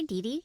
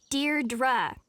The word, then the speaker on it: Deirdre: Hi, Dee Dee. Deirdre. I know it's got that tricky second syllable, but I figured it out by age 2.